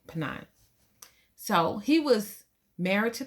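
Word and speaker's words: Peninnah: a wife named panina now could be seen that wrong too her name is p-n-i-n-n-a-h but that's what i say pennine so he was married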